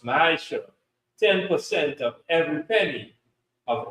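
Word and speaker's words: מעשר: You can find this in Numbers chapter 18 and verse 21, and Malachi chapter 3 verses 8 to 10 means tenth in Hebrew, and it's pronounced ma'asher.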